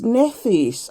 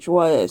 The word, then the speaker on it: Nephthys: So we've got today is Nephthys. I don't know if I'm pronouncing that right though. It's Nephthys. So it's Neph. The PH is silent, isn't it? It's pronounced as F, isn't it? Nephthys.